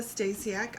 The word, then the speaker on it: Stasiak: Stasiak.